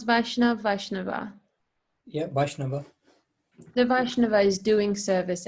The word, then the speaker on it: Vaishnava: The Vaishnav, should I pronounce Vaishnav, Vaishnava? Yeah, Vaishnava.